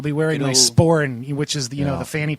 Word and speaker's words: sporran: So I'll be wearing Good my old- sporin, which is the Yeah. fanny pack, Right. this Celtic Oh, yeah, fanny yeah. pack. Yeah, right. A sporn? It's called a sporin.